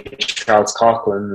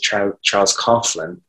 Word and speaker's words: Charles Coughlin: We would say Charles Coughlin in Ireland, but I think the Americans pronounce it Charles Coughlin.